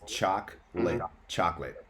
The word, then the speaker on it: chocolate: A lot of people will make it like a 3-syllable word, but it's just 2 syllables. It's chocolate.